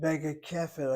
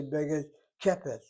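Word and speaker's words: בגדכפת: Notice how I pronounce it, Begakefet. I don't say Begakepet, right?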